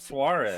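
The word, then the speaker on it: Suárez: Suarez.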